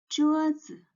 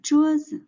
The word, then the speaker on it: 桌子: We put the stress on the first word, and is the pronunciation